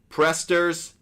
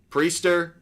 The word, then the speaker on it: Priester: in a bit you're also going with Quinn presters prester Priester over one and a half walks aloud not